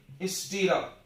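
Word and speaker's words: stirrup: अपने पूरे बॉडी का सबसे छोटी हड्डी कान में है, हैमर, एनविल, स्टीरअप। पढ़ने तो आ रहा है ना, नहीं तो उच्चारण लिख लो, स्टीरअप, हैमर, एनविल, स्टीरअप।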